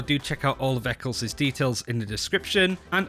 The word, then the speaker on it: Ec1s: I myself, I've created a YouTube channel, which is Ec1s, pronounced Ec1s.